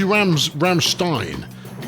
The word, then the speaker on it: Rammstein: Is a fine-looking young gentleman at a Rammstein event of some description, because it should be Rammstein, given that it is EI rather than IE, and the pronunciation there.